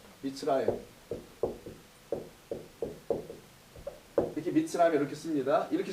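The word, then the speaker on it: מִצְרַיִם: 예를 들어서 애굽이라고 읽지 않고 이집트로 발음하지 않고 히브리어는 미츠라임이라고 한다면서요. 미츠라임.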